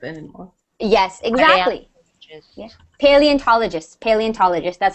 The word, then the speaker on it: paleontologist: Paleontologist. That's how you say it. Yeah. Paleontologist.